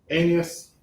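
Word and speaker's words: Aeneas: An anas is that right though a e n e a s anus anus.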